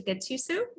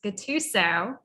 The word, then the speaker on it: Gattuso: ecommerce live i'm gatusu ooh i said my name wrong now that's a first gattuso that is weird it's